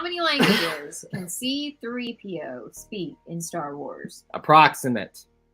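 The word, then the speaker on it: C-3PO: it's cp c3po that you have caused me to say that name wrong all the time because you always say cp3o it says c3po how many time the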